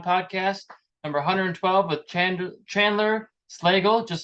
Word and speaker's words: Slagle: Yeah, and see, Slagle is spelled Slagle, where bagel is EL, but it sounds like bagel, but it's spelled LE. Right, right. Yeah, a lot of people say Slagle, and I'm like, no, it's Slagle.